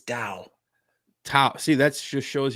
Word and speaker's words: Tao: Say Tao with a D. It's Tao.